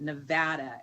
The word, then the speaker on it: Nevada: committee is cringing because we pronounce it nevada and we are very